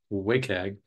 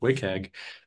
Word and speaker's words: WCAG: abbreviation WCAG, pronounced as WCAG. There's a missing vowel, but you just got to trust me, WCAG.